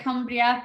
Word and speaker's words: Cumbria: opened her first school in 2000 in Penrith, Cumbria. Is that how you pronounce it, Denise? Yeah, Cumbria, perfect.